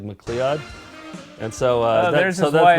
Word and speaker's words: McLeod: pronounce it? It's like McLeod.